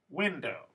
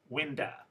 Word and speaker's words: window: first two that is so it's window the stress is on the first syllable and according to the rule i've taught you so far this should be winda winda but it's not there's no schwa here